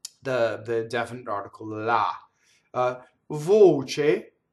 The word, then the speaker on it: voce: Voce, C-E again is che, and the O is closed. Voce.